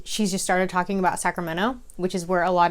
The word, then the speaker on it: Sacramento: is from the area whether or not they pronounce the T in Sacramento so I say it's Sacramento like LMNOP it's not Sacramento if you pronounce the